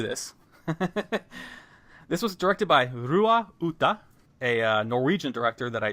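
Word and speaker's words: Roar Uthaug: meanwhile he's like but my name is roar roar ooh tog it's pronounced how a uncultured American would say it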